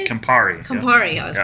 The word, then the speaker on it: Campari: Campari.